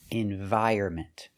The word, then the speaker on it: environment: You don't pronounce the N. Environment.